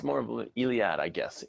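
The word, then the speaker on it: Eliade: title here yes uh no it's more of iliad i guess it's once again he's french i can't pronounce his name it's e-l-i-a-d-e e-l-i-a-d-e and he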